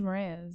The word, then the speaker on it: Moraes: I think it's Mareas. That's what I would assume. It's Mareas. It's spelled the same as I've Marlon actually Moraes.